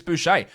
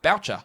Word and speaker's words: Boucher: was saying about hey how come his name's boucher when the old south african player cricket player was named mark boucher spelled the same and obviously boucher because he's yeah french canadian i went oh there's